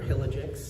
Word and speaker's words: Hillagix: All right, hi, my name is Hilly, or Hillagix, that's how you say it. I know there's a lot of I's, J's, it's a little difficult, but yeah, Hillagix, or Hilly.